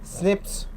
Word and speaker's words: SNP: single based DNA differences snps single nucleotide polymorphism pronounced as Snips occur in humans next